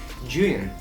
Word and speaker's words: Zhiyun: It's actually Zhiyun. But I'm still gonna call it Zhiyun because that's more convenient for me.